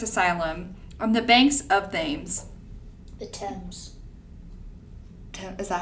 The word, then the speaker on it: Thames: of a derelict asylum on the banks of Thames. The Thames. Is that how you pronounce it? It is. Thames. The Thames. It's the Thames.